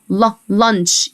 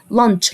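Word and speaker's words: lunch: ال وجبه الغداء ل لانش السي والاتش انطقها تش لانش لانش لانش ورقه الشجره ليف ليف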